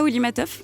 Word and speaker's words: Woli Matthov: Ça se prononce bien comme ça, Wolimatov ? C'est parfait, c'est ça.